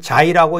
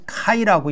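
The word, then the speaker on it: χ: 것들이 뭐 마대로 있기 때문에 우리는 자이라고 읽고 아 중국에서는 c이라고 읽고 그러나 원래이 이렇게 된 그 근원은 어디서부터 왔냐면 카이에서부터 왔기 때문에 원래는 사실 이거는 카이라고 읽어야는데 제멋대로예요. 그러니까 그리스어로는 그리스어 또는 헬라어로는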